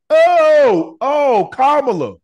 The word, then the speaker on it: Kamala: Oh, Kamala.